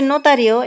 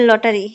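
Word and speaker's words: notario: কি হবে মেট্রো হ্যাঁ আপনারা পারছেন তারপর হচ্ছে নোতারিও এটাকে কি বলে জানেন অনেকে বলে লটারি তো লটারি না এটা হবে নোতারিয়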